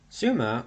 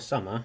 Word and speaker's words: Sumer: Sumer, or Sumer, whichever you prefer to pronounce it, was part of Mesopotamia and the Fertile Crescent.